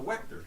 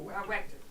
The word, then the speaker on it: Wechter: Oh, it's a Wechter. A Wechter.